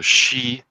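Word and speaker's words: sidhe: like latin and greek so she would be how it's pronounced in earlier irish shiva but we lose the dh sound to the the sound because like we do in irish english we don't pronounce that anymore and this is the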